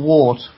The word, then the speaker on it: wort: And that's spelled W-O-R-T. That's right, yes, St. John's wort or wart.